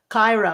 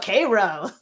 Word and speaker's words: Cairo: But when you can tell when somebody's new around here because they say, "Oh, Cairo," and they go, "No, Cairo."